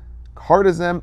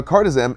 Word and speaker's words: Cardizem: Now, cardizem ends in zem, so think like yoga zen, like perfectly calmed and relaxed heart, lower blood pressure.